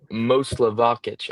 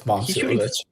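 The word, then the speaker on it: Momčilović: Okay, then another guy that doesn't get enough attention, Milan Moslavakic. I don't know how to pronounce that. I got it wrong. It's Momcilovic.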